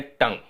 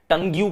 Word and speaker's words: tongue: BLUE को हम pronounce करते हैं ब्लू, GLUE को हम प्रोनाउंस करते हैं ग्लू, लेकिन TONGUE को हम प्रोनाउंस करते हैं टंग। बताना भाई, टंग्यू क्यों नहीं?